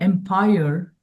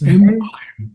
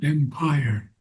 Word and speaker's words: empire: Nor there alone is their empire or their role. It's empire, not empire. Empire. Empire. Yes. Accent. Empire. Accent on the first syllable.